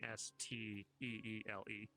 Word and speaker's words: Steele: Their last name, their Steel being Steele. Just the last E is silent.